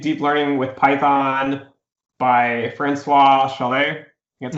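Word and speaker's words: François Chollet: If you want to do data science and machine learning, I think Deep Learning with Python by Francois Chalet, that's how you pronounce it.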